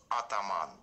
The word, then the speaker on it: Ataman: from otaman and uh the correct pronunciation of uh our brand name is aan yep so there's more